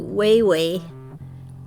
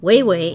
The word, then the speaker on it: Wawa: it would be but because there's only a singular a at each end it is way way it's just the way